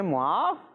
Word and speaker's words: معاف: ایک منٹ نا ان کو بتانے دیں۔ معاف تو یہ لکھا ہوا تو ہے، یہ کیا ہے؟